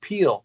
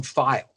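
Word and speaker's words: Pihl: and what's funny his his name is pronounced peel but it doesn't look like it we we call him file hey kyle what's going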